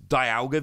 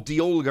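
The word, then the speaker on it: Dialga: that one of the v star here is diago v star or d olga as it's actually pronounced but that's just super weird to me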